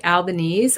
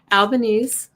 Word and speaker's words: Albanese: We saw a win by Albanese. I figured out how to say it, not Albanese. Albanese kept his seat.